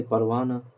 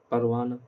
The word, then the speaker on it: پروانہ: ادا کریں گے اپن۔ ہائے مختفی جس کو چھپا کے، ہیڈ کر کے، وہ واو جو صرف حرکت کو ظاہر کرنے کے لیے آئے، یعنی جس کا تلفظ ادا نہ کیا جائے، ہیڈ کر دیا، چھپا جائے، ادا نہ کیا، جس کا تلفظ ہی ادا نہ کیا جائے، جیسے پروانہ، پروانہ، زمانہ، 15 وغیرہ۔ ہائے مختفی ہو